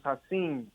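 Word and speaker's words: Ha'Sean: a kid bro um my real name is haseen but it's spelled hashan and um well since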